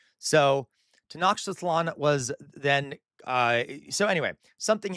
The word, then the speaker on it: Tenochtitlan: is how I was taught to pronounce it. I could be wrong. I do not speak Nahuatl. All right. So Tenochtitlan was then.